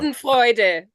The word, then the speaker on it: Schadenfreude: How do you pronounce that? Schadenfreude.